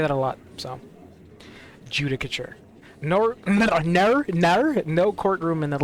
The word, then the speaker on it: Judicature: Pronunciation. How do I say that? Judicature.